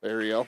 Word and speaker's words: Arrol: Ariel, like the little mermaid.